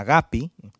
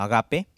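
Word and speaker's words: ἀγάπη: perjanjian baru yang pertama adalah agapi atau biasa sesuai dengan cara baca Yunani kuno adalah Agape Hai Agape waktu agapi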